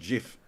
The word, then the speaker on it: GIF: gift if it's gif it's pronounced jiff according to the guy who invented it yeah yeah according to